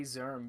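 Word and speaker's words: Szirm: your Instagram it's zerm but don't even bother with that okay uh zerm uh one word zerm is spelled s z i r m zerm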